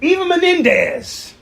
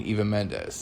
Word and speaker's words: Eva Mendes: If Eva Menendez... Who is... You mean Eva Mendes? Eva Mendes. You're just adding... I'm just adding an extra syllable extra to Mexican to it.